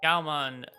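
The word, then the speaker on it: Gaomon: I'm going to up make sure I'm pronouncing it right. Yep. Uh Gmon.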